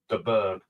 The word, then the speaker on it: de Burgh: We're going to look at Chris de Burgh, and you do pronounce it de Burgh.